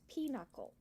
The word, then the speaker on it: pinochle: discovered since then that I actually pronounced that word wrong it's pinochle oh my mom has